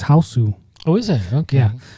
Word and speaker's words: Hausu: House. No, it's House. Yeah, but in Japanese it's Hausu.